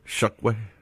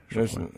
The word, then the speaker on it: Chokwe: Chokwe. Chokwe. There ain't no damn U in his name. It's an O. It's Chok. It's CHOCK. In any other world, that's Chok, not Shuck.